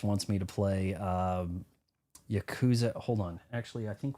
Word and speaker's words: Yakuza: So, I've I'm haven't played any of the Yaku Yakuza, that's the way to pronounce it, games.